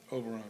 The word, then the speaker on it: Oberon: a great dinner at Oberon, is that how you say it? Oberon Grill? Oberon, yeah.